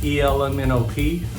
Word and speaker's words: Elemeno P: He's actually a drummer for a band called ELEMENO P. It's spelled ELMNOP, but it's a really famous band here in New Zealand, and he was such a cool guy.